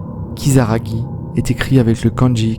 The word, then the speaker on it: Kisaragi: le nom de cette station bien qu'il soit prononcé kisaragui est écrit avec le kanji qui signifie démon